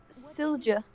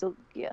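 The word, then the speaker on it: Sylgja: Silja.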